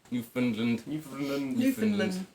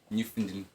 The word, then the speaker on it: Newfoundland: Newfoundland. The less actual syllables you can use, the better, as far as I understand. Newfoundland.